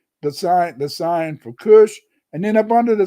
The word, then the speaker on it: Cush: It's pronounced Cush.